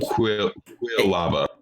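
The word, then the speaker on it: Quilava: I believe this Pokemon's pronounced Quavala? The second evolution of Cyndaquil? Quavala? It's fucking... Quill lava. Because it's a poor. I think it's supposed to be like a porcupine.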